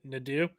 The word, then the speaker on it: Nadeau: Yeah, and I thought it was funny when Ryan Nadeau was talking, or Brian, how do you say it? Nadeau? Yes, Ryan Nadeau. Yes, the proper French pronunciation.